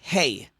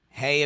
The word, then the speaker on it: hey: fifth letter the letter hey hey a very simple letter the pronunciation is like breathing it's just a he so that's the he